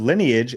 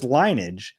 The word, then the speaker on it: lineage: On the latest Potter, on 20 minutes in, did I hear Rub say the word lineage as linage, a two-cllable pronunciation? Never heard it said that way before.